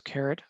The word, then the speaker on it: caret: So caret and $sign, caret, by the way, it's spelled like this, caret. I don't even know what that means actually, but it's pronounced like carrot.